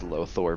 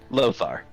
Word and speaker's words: Lothar: Also, I love that you all think my character's name is Lothor because of the voice that I gave him. He mispronounces his own name. What is it? Lothar. Lothar. But because you've only ever heard me say it as Lothar. Yeah. Okay. There you go. It's Brand. It's Lothar.